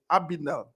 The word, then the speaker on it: Abinelle: Is the pronunciation, is it okay? Abinelle.